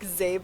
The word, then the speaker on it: Szabo: Like Szabo?